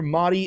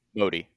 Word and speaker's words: Modi: nothing just hours after Motti and Putin. Am I saying that name correctly? Motti. Is it Modi or Mi? Modi. Narinja. Modi.